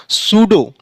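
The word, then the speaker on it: pseudo: होता है एग्जांपल देखिए पी एस ई यू डी ओ इसका जो सही प्रोनाउंस हुआ सूडो पी क्या हुआ इसमें पी साइलेंट हो गया ऐसे दूसरा एम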